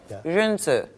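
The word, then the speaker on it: 仁: Zhenzi. Which one? Zhenzi.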